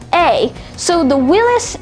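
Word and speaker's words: Willys: was called willis and this is willis spelled w-i-l-l-y-s so that's interesting now willis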